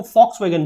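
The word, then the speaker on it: Volkswagen: कि वी बॉक्स में जो नहीं बोलते इसको फॉक्सवैगन बोलते हैं तो इस तरीके से यह जो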